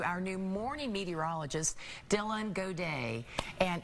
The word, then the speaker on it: Gaudet: Yes, so it's Gaudet. Okay. So I say it like you're cheering. Gaudet. I like So that. helps you remember. It's French. It's French pronunciation.